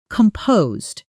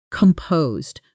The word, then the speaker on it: composed: Composed is not pronounced with a hard s sound in the middle. It's composed with a soft Z sound and the stress falls on the second syllable.